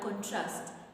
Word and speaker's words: contrast: narratives so compare and contrast it's an action it's a verb so we are going to stress the last syllable which is Trust you're